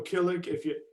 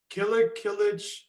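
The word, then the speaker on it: Kılıç: Kilic. There's like an accent on the C, so. That's why when I see everybody posting your name, they've got like this little thing on the bottom of it.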